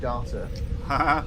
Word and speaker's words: Data: backstory of data which it specifically says in the bible is pronounced data really yes so pulaski was right yes what is my